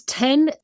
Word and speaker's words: Tien: So my name is Tien. My name is pronounced just like the number, although it's spelled Tien.